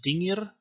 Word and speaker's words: dingir: This sign in Sumerian is pronounced dingir.